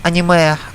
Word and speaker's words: anime: the anime and the the anime or correctly pronounce Japanese annamaya and the game stories